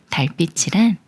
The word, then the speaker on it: 달빛: 소리인 뿌로 소리내는 경우예요 먼저 다의을 소리를 붙여서 달이라고 읽어요 달 다음에 빛이라는 말이 와서 달빛이 되는데요 달빛이랑 달에서 오는 빛이에요 따라서 달이 꾸며 주는 말이고이